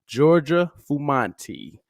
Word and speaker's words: Giorgia Fumanti: And tonight we have international crossover artist, Giorgia Fumanti. How you doing, Georgia? I'm doing very well. You pronounce it perfectly.